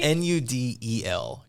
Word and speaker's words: Nudel: BL with a K and noodle is not like our noodle nudel coach noodle nudel um